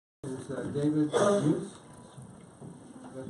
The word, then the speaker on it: Meuse: David Meuse. Did I pronounce the last name correctly?